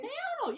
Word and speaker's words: Me llamo: Me llamo. Yeah, it's L, but L in Spanish is Y.